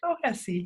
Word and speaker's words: Clohessy: And today I'm happy to have Vincent Clohessy here. Did I pronounce that right?